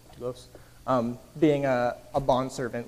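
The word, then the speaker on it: δοῦλος: what our calling is, doulos, that's how you pronounce it, doulos, being a bondservant, like willingly committing yourself.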